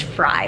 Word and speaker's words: Frey: It's Fry, like French fry, even though it's spelled like Frey.